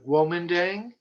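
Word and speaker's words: Guomindang: there we are there's two ways of uh spelling or pronouncing uh the nationalist party we have the woman dang g-u-o-m-i-n-d-a-n-g but the one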